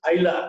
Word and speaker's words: Aila: other areas, geographical areas, they could not pronounce the term Ila. They started pronouncing this Aila, A-I-L-A.